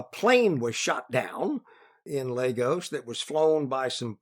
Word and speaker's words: Lagos: to Lagos uh yeah the Nigerians pronounce it Lagos ohos I'm sorry that's all